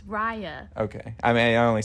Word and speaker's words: Raya: raya you keep saying reya well it's spelled r a y that's rey that's rey yeah that's right yeah yeah if you listen to them say her name it's raya okay i mean i